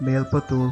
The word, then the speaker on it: Melpathur: Melpathur (correctly pronounced as Mel-pu-thoor), who was a devotee of Guruvayurappan, came to the temple to seek relief from a virulent attack of rheumatism.